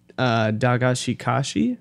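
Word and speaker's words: Dagashi Kashi: So, Rolando, the last show you watched was Dagashikashi Season 2?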